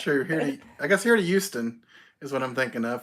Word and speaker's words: Houston: From home to Houston. Either that or from... He means Houston with an H. He doesn't... I pronounce it properly. No, you don't. It's not Houston. It doesn't start with a U.